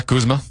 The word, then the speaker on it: Kuzma: Yeah, Kuzma. Kuzma is how you say it.